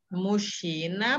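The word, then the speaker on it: мужчина: Mushina, bacanya kayak huruf sh.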